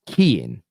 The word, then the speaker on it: Keane: It's pronounced Keane. Oh, Keane, like from Westlife.